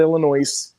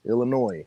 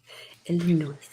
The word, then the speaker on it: Illinois: Not Illinois, Illinois. The S is silent. Illinois.